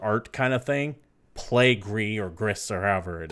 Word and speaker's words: Gris: I think it's called Gris. It's spelled G-R-I-S.